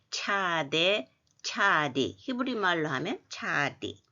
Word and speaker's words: Tsade: 히브리어 알파벳과 모음 제11편 차대, 차대, 차디. 이건 뭐냐 하면 우리가 알파벳 이름을 차대라고 하는데 히브리어로 이렇게 쓴 걸 보면 차디 이렇게 되어 있습니다.